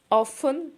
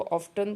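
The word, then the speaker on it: often: ऑफन या sometime इसको ऑफ्टन, कुछ लोग इसको ऑफ्टन प्रोनाउंस करते हैं।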